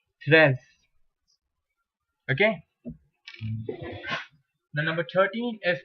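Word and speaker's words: treize: you have t r e i d e pronounced as stress tress okay now number 13 is crown staff class now we go to number 14.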